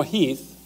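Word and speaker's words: Heth: Lee's intent actually is to kind of let General Heath, it's spelled H-E-T-H, but it's pronounced Heath, to do a little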